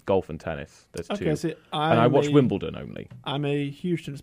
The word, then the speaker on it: Wimbledon: all done my bad I get so many Americans saying that oh it's Wimble turn it's like no it's it's not I don't know if that's